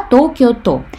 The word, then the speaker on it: 東京都: Тут не кен будет с Токио, а то. Вот этот вот иероглиф и как то читается, да? Токио то.